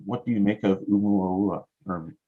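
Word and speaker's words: ʻOumuamua: make of Oumuamua, or Oumuamua? First, the pronunciation is difficult. It has that tick mark in the beginning, which is a glottal stop. So it's actually Oumuamua. And I can't do that. That's Hawaiian.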